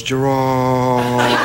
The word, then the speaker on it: Gerard: In Scotland, it's Gerard. Gerard. It's like that. It's, yeah, Gerard. Gerard. It's the emphasis on the first part, but here in America, it's Gerard, and it goes Gerard.